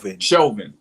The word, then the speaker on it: Chauvin: How to pronounce his name? Derek Chauvin.